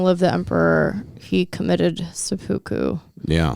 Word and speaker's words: seppuku: After a speech screaming "Long live the emperor," he committed seppuku.